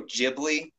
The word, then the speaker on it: Ghibli: never say it right I believe he believes ghibli when it's actually Ghibli Ghibli because me now Miyazaki